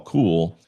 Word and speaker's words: CEWL: And I pronounced it cool.